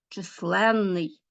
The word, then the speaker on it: численний: Ну уже ви думаю звернули увагу що всі ці суфікси наголошені височенний здоровенний численний нездійсненний несказанний незліченний звернули увагу да от запишіть собі обов'язково і поставте наголос це все такі суфікси